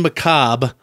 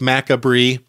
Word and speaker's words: macabre: Then you want to hit up Mountain Macabre on Facebook. Looks like macabre, if you've only read the word. Pronounced macabre.